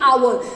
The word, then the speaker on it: hour: Pronounce the word hour. We are not saying hour. H is silent here. Oh, we are saying hour.